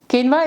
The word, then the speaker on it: quinoa: Even though quinoa is spelled as quinoa, it is pronounced as quinoa. Quinoa is a complete protein as it contains all the 9 essential amino acids.